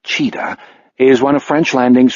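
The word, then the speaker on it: Tcheda: a prick of unease Danny cheetah last name pronounced cheetah is one of French landing's 14 full-time rmp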